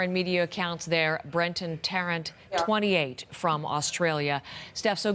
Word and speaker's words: Tarrant: they're calling him brenton tarrant tarantula thank you very much it looked like durant but i will correct